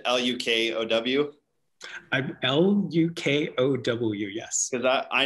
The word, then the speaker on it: Lukow: So it's probably one of those things where if you know somebody with a Czech last name, it's pronounced, you know, so many different ways.